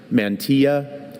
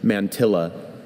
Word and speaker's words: mantilla: Mantia. Mantilla.